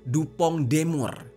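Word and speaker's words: DuPont de Nemours: Jadi, perusahaannya itu bernama Dupong Demur ya, tulisannya sih Dupon Demous gitu. Tapi bacanya dupong demur yang biasa disingkat dengan dupong atau dupong ya.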